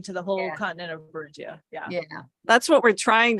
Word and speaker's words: Beringia: Beringia.